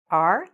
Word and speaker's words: our: these are our books remember r like the letter r and then our so repeat it after